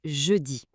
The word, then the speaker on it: jeudi: La prononciation ici est jeudi. Le son du J en début est très important. Ce n'est pas un j comme en anglais, c'est un son plus doux comme le son qu'on entend dans le mot